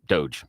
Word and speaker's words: DOGE: Dodge Department of government Doge Doge yeah doge is how you pronounce it because it's a meme yeah it is a